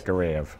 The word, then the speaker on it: Timur Gareyev: You're going to ask me to pronounce his name? Well, Timur Gareyev. Gareyev, yes. Gareyev.